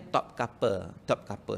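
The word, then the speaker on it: Topkapı: Jadi maknanya museum itu yang di Turki itu, museum dia ejaan dia Topkapi, tapi bacaan dia Topkapi. Sebab I itu tak ada titik.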